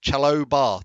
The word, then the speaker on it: Chalobah: Marco says it's pronounced Chalobah.